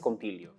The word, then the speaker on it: scompiglio: Anne, thank you very much for that performance and joining us today to speak about Scompiglio. I hope that is the correct pronunciation.